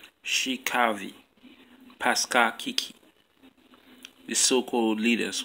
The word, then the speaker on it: Shey Kaavi: by mainly you - hi his name is pronounced she Kathy Pascal Kiki the so-called leaders walking you know